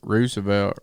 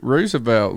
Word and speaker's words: Roosevelt: but really I mean it's spelled the same way you spell rooster Roosevelt rooster which is right which is right do you know I mean I think R Roosevelt the way you said